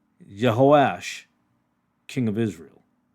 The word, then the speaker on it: Jehoash: he sent a challenge to jeos I'm sorry I pronounced that wrong jehoash king of Israel not